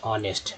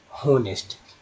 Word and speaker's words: honest: क्या पढ़ते हैं इसे HONEST को पढ़ते हैं ऑनेस्ट, ना कि पढ़ते हैं होनेस्ट।